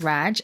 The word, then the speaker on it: Radw: discount code is raj that is radw yes it's pronounced raj that's my name so